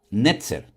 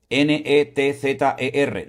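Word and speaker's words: נצר: Netzer. N e t z e r.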